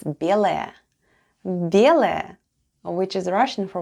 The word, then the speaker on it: белая: The first sound is B, then goes Е, L, A, and Ya at the end. And all together it's белая.